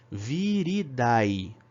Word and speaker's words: viridae: falar como se escreve viridae tá v e r d a e a pronúncia é vir editar virid ok então as famílias